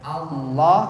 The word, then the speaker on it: Allah: itulah disebut lam jalalah Niki bacanya harus berat Allah atau tafhim Allahu Akbar kalau ada